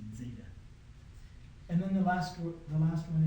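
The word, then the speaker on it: ζήτα: Yeah, it's like a DZ, Zeta. So, I misspoke. That is not just a plain Z, it's like a DZ, Zeta.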